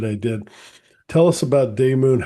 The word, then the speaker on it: Daymoon: And turned it into Daymoon, which sounds based on the original Greek pronunciation of demon, just like Oh, daimon.